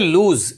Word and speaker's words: lose: तो आप यहां मिस्टेक नहीं करेंगे कि वर्ब के फॉर्म्स इसको लिखेंगे और इसे पढ़ते हैं लूज एल ओ एस ए लूज ऑफेनली लोग इसे भी लॉस बोल देते हैं बट इसका करेक्ट प्रोनंसिएशन प्रोनंसिएशन